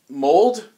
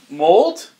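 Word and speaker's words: Mould: beach they eat i mold it's m-o-u-l-d but i think it's pronounced mold sounds french he's an old man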